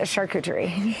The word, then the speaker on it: charcuterie: First things, what is a charcuterie?